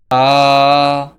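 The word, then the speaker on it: ث: এই দুই ঠোঁট মিলিত থাকা অবস্থায় এর ভিজা স্থান থেকে বা, বা, বা উচ্চারিত হয়।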